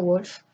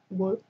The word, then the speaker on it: Wolf: Médée, de Christa Wolf, parce que c'est une allemande, donc ça ne se prononce pas Wolf, ça se prononce V.